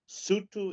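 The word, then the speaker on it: Sotho: W A N A, Sutu, S O T H O, uh, if you are Venda, V E N D A uh, Shangan, whatever.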